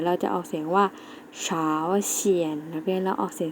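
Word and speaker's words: 朝鲜: เหนือ เกาหลี เหนือ เรา จะ ออก เสียง ว่า เช้า เขียน นัก เรียน แล้ว ออก เสียง สิ คะ เฟอร์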